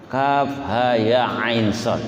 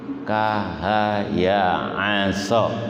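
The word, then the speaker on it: كهيعص: Maka cara membacanya adalah dengan membaca huruf hijaiyahnya, bukan membaca sesuai dengan harokatnya. Kalau membaca sesuai dengan harokatnya menjadi kahaya aso, nah itu keliru kan begitu.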